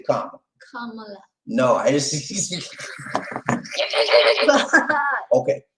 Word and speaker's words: Kamala: Kamala Harris. That's how it's pronounced. They have a problem with people pronouncing it, but it's pronounced Kamala.